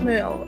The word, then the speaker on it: Smurl: And I'm pretty sure it's pronounced Smurl. I went to say Smurf, but it's L on the end. Yeah, no, I think it's Smurl.